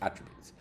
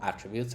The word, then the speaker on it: attribute: When you print object attributes. An object can contain variables which are called attributes and pronounced with the emphasis on the first syllable like attribute, rather than the second syllable like attribute.